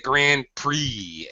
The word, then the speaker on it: Grand Prix: We call it the Grand Prix in English. We don't pronounce the X at all.